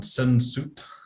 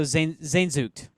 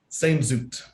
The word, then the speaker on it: Sehnsucht: just your theme of, I'm gonna probably say it wrong, sensuit, Oh, Zainzucht. Sehnsucht. This is the Yes. German word.